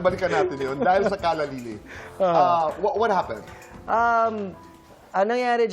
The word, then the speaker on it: Callalily: Is it Kalya Lili or Kalalili? Kalalili ang pagka-pronounce sa amin.